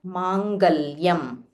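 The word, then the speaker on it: मङ्गल्यम्: So in Tamil we say Mangalam, but in Sanskrit, in Sanskritam, it is not, there is no la. It is la. So Sarva Mangala Mangalyam. La. It is only the chinna la.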